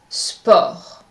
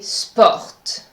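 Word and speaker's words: sport: i'm applying the wall I'm not pronouncing the tee at the end of the word the correct pronunciation is spa so don't say spot this is incorrect in French now we are going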